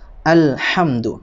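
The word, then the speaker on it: الحمد: ya hukumnya Ilham Komariah halnya dibaca jelas tidak boleh dibaca ehem2 tetapi harus alhamdu Hai berikutnya kita bahas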